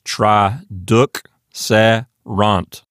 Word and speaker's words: traduxerant: So really that second syllable will be D-U-K, and then the following syllable will be starting with the S and go S-E. Then the final syllable will be R-A-N-T, rant. So what you get is tra-duk-se-rant.